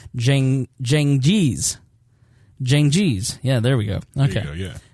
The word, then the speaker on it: Cengiz: marry his Turkish fiancée, Hatice Seng, there's a pronouncer, Cengiz.